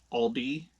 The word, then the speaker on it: Aldi: But yeah, it's Aldi. So, anywho, I do digress. I I don't know where you would buy this. I kind of feel like maybe Aldi's got a contract with